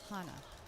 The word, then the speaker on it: Hana: I think it's pronounced Yeah. Hana.